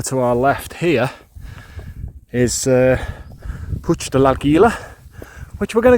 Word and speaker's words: Puig: Now Puig is spelt P-U-I-G, and from what I'm told is a Catalan word meaning peak. I'm told it's pronounced Puig, but if you know any different, let me know. And here we are at